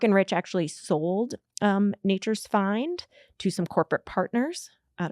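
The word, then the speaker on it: Fynd: So Mark and Rich started a food company called Nature's Find, where find is spelled F-Y for Fusarium Yes. of Yellowstone, N-D.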